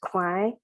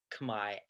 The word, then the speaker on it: Khmer: And I think why I said it Khmer and Khmer in the play is just to highlight that experience even more of, oh, it can be pronounced this way, but this is how an American lens would view that word.